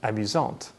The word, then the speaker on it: amusante: This means that the masculine version is pronounced amusant with a silent T, and the feminine version is pronounced amusante with the T pronounced clearly.